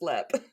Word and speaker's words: Leap: But also she kept pronouncing leap castle and I was like literally one little goog and then you'll know that it's pronounced lep. Yeah, it spelled like leap.